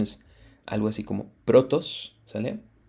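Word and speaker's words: πρῶτος: Esta primera significa, o bueno, su pronunciación es algo así como protos, ¿sale?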